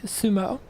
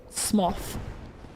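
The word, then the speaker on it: Smough: Well, uh, my understanding his Japanese name is literally sumo. So rather than, you know, smoth, it's it seems like it should just be said.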